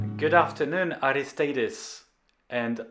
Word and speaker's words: Aristeidis: good afternoon aristadis and i know i pronounced your name correctly because you told me that i sounded almost greek hello sebastian yes you